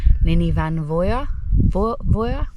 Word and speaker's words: Llyn y Fan Fawr: um welsh people earlier they told me that the f should be pronounced with the v so i suppose i should call it nini van voya i don't know whatever